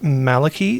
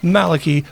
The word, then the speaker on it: Maliki: I know it's a name, and I know it has various different pronunciations depending on where you are and what language it's coming from, but from what I understand, Maliki is sort of like the most common one, so we're going to go with that.